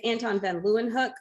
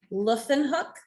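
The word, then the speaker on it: Antonie van Leeuwenhoek: try it yeah so usually english folks are going to say it's anton van leeuwenhoek but i'm pretty sure he would pronounce that luffin hook so yeah because that's one of those interesting w's that becomes an f yeah there you go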